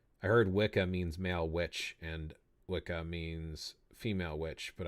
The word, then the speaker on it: wicca: Old English, there are two words which I believe are pronounced witche and witcha. Witcha is the one that you put there, and that is for a male practitioner, and witche is for a female practitioner.